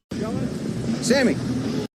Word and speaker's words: Sammy: Sammy. Stop what you're doing, because he's about to ruin the image and the style that you're used to. His name is Sammy, and it rhymes with my hammy.